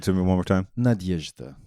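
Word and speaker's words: Надежда: the title hope against hope yeah yeah yeah Nadezhda we say Nadia that's her that's her nickname no no I see Nadia yeah how do you say hope again just give it to me one more time Nadezhda Nadezhda not that that okay so um I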